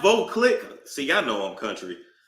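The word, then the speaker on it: Veuve Clicquot: Oh, this is pronounced Voclick.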